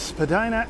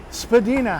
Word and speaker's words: Spadina: a fountain with dogs in it this is Spadina Avenue north of Lord becomes Spadina Road and if you follow it up a hill at the top of the hill is the estate it's named after Spadina house that's right no Spadina house Spadina house